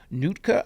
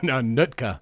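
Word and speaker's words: Nootka: Coast, West Coast, and Nutka Island trails. Is that right? No, Nutka. Nutka. Nut like foot.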